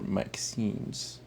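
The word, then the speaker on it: MXene: Layer carbides or maxines. Um it's actually written as you can see right there MX. Um I like pronouncing it max. It just sounds way better to pronounce.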